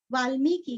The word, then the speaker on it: वाल्मीकि: वंदे वाल्मीकि, वाल्मीकि का मी, ल आधा मी, दीर्घ मी और कीरस्व वाल्मीकि कोकिलम, को कीरस्व लम, कोकिलम। पूजन्तं राम रामेति मधुरम मधुराक्षरम आरुह्य कविता शाखां वंदे वाल्मीकि कोकिलम।